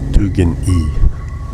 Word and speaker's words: Stekini: The Stekini, pronounced Stugin-E, like Stugin-E.